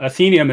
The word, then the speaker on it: Athenaeum: context I pronounce it atham I'm wrong right uh you're you're right uh athenium is how I pronounce it though because I named it after my daughter Athena so I pronounce it